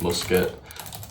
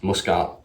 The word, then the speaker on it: Muscat: Oman is musket. Muscat how you say uh Pakistan is Islamabad.